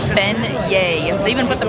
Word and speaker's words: beignets: there's a it reads begnettes and I'm like no they're fan yay it's French so for all you who don't know how to pronounce these a delicious deep-fried dough it is been yay even with the pronunciation